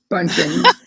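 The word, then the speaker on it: Bündchen: Bunchen.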